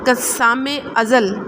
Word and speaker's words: قسام ازل: کر تلفظ واضح کریں۔ قسام ازل، بڑا قاف کے اوپر زبر آئے گی، سین پہ شد اور زبر، میم کے نیچے زیر، الف پہ زبر، زے پہ زبر اور لام پہ جزم۔ قطعہ زمین، قاف